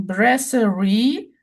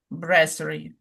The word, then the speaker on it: brasserie: yeah, brasserie. Yeah, two variants of pronunciation. Oh, really? American brasserie with the stress on the re, and British brasserie. Very.